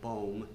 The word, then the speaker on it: Boom: I would like to hear what you think about the story I relayed this morning about, we pronounce it Corrie ten Boom, but it's actually Bohm, but about her experiences in concentration camp.